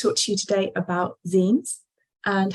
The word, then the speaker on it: zine: know what azine is it's pronounced Zine because it's short for a fan Zine or a fan magazine started off all the